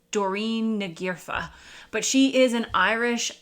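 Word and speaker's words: Doireann Ní Ghríofa: I started this video, and I believe it's pronounced Doreen Nagirfa, but she is an Irish author, and I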